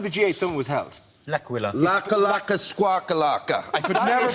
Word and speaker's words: L'Aquila: L'Aquila. Laka squawkalaka. I could never pronounce that word. That's okay. It is a night of bad Italian impersonation, so we'll let you in. But he went. It's called L'Aquila.